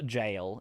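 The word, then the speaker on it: gaol: Ye Old English also Gail equals jail yeah that one I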